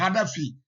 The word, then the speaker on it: Kadhafi: Les Arabes ne prononcent pas Kadhafi comme nous on dit, ils disent Hadafi.